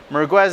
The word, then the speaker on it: Merguez: It's also sometimes pronounced the Merguez or Maracas, but Merguez is kind of the more popular name that it goes by nowadays.